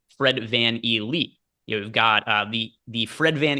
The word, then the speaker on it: VanVleet: As Emac is in the YouTube chat saying it is pronounced Fred Van Elite.